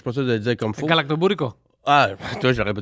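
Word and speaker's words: γαλακτομπούρεκο: La collation, il faudra que tu mettes dans la prononciation parce que je suis pas sûr de le dire comme faut. Galactobourico. Ah, toi, je l'aurais pas dit comme faut. Café et... Tu vois, répète. Galactobourico.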